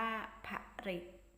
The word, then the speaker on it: ผลิต: ผู้ ผลิต ผู้ ผลิต มี พ่อ นำ สะกด ว่า พระ ผลิต อ่าน ว่า ผลิต โป้ ฝรั่ง โป้ ฝรั่ง